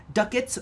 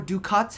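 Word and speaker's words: ducats: insane it cost 610 duckets or dukot however you prefer to pronounce it and 100,000 credits um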